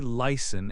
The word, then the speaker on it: listen: The letter T can be silent in words like listen and castle. You say listen and castle.